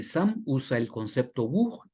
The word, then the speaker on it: Vuh: Conclusión, se escribe bug, pero se pronuncia bug.